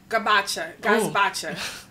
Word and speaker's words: gazpacho: Gazpacho. Gazpacho. Yeah, I think that's how you pronounce it.